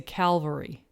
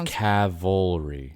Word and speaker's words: cavalry: well cavalry cavalry a lot of people say calvary put the l in the wrong walk but it's cavalry right cavalry yeah that makes sense candidate candidate